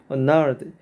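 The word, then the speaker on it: gnarled: 그 다음에 nearby 근처에 nard. G는 발음이 안 됩니다.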